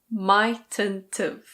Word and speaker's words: mightn't've: This becomes mightn't've.